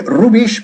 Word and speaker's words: rubbish: En Inglaterra se dice mucho rubbish, que se escribe rubbish, pero se pronuncia rubbish, con una B fuerte y además antes de la B bajando y bastante la mandíbula, ¿ok?